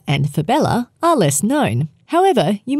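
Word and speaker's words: fabella: Next on our list, we will cover three with similar pronunciation: cyamella, fibella, and patella.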